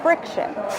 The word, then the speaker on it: Frixion: How do you pronounce that word? Frixion.